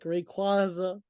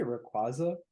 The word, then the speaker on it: Rayquaza: Like Rayquaza, Charizard, Dragonite, Salamence. I could go on. Like, they just Ew, look wait, sick. hold up. Did you just say Rayquaza?